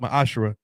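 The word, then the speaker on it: מעשר: and 21 Malachi 38-10 means 10th in the Hebrew it's pronounced my ashra 10% of every penny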